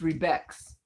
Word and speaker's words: Rebex: You can say Rebex. Rebex? It's pronounced Rebex.